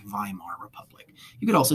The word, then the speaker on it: Weimar: government called the Weimar Republic in German you pronounce a w with a sound Weimar Republic you could also say Weimar Republican people would know what you meant so